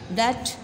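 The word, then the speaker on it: debt: जो कर्ज लिया था डैच इसमें बेटा साइलेंट है दी डेट ऐसी रकम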